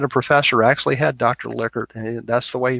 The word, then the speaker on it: Likert: Likert that's the way he pronounce his name not like heard and you